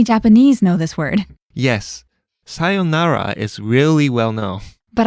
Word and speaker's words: sayonara: known but I think getting the pronunciation right can be tricky you have to make sure to hold the yo sound and the whole tone of the word stays flat right listeners try it out